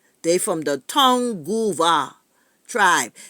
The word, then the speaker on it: Tongva: not they from the town Goa tribe t o n g v a with an accent on I think the the V and the a or the accent on the yeah so I was